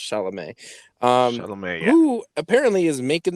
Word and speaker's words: Chalamet: is timothy i pronoun i'm pretty sure it's pronounced chalamet um who apparently is making the rounds on